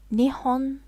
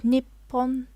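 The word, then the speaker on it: 日本: some of you may know it is called nihon or nippon depending on how you want to pronounce it so i am going to be using this pronunciation nihon and the candy that is that are used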